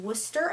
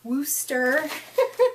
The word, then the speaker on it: Wooster: and the 27th in Worcester Ohio and it is Worcester not Worster cuz it is pron it is spelled that way w o o s t e r i was not I